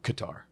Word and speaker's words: Qatar: way that goes poorly pronounced cutter by the way also qatar yeah i'm gonna call it cutter though the official pronunciation i remember hearing was cutter and i was just like